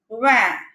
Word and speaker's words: vingt: So here the last vowel is I. So we do not pronounce NGT.